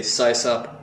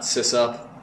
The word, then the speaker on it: SysOp: We're not SysOps. I mean, I never called it system operator. It's just, it's not a system operator. It's a SysOp. Oh, by the way, I say SysOp, not SysOp.